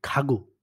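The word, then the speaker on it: 가구: উদাহরণ হচ্ছে এই যে খাগু, খাগু আসবাবপত্র। দেখেন এখানে ১ম এ কিন্তু খা হইছে, পরে কিন্তু গ হইছে। খা শব্দের ১ম এ, শব্দের ২য় তে হচ্ছে আপনার গিয়ক বা গু, খাগু।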